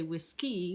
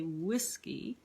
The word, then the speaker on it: whiskey: We don't say whiskey, we say whiskey. Same thing with the word badger. That's a trochee. We put the stress on the beginning, on the first syllable.